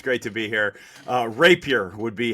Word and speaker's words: Rapier: me on it's great to be here uh Rapier would be How uh we pronounce our our last name rap here yeah all right so um I say you